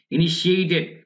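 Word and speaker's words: initiated: ইনিশিয়েটেড, এখানে এই টি এর উচ্চারণ ডা হয়ে যাবে আমেরিকার উচ্চারণে। ইনিশিয়েটেড তাহলে শুরু করে দিয়ে করে, কি শুরু করে?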